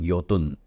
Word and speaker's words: Jotun: channel uh 10 years ago Norway's Monopoly called yotun okay uh jotun is how they spell it is how they pronounce they came in